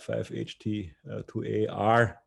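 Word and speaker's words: 5-HT2A: here it's written out five ht to ar that's the correct way to say it with the snap tag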